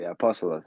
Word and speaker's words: Apostolos: Apostolos, that's my name.